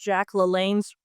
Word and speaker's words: LaLanne: I know she pronounced Jack LaLanne's name wrong.